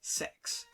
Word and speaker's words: CeX: this pre-owned game shop called cex but they're very clear in the marketing that it should be pronounced as sex i saw persona 4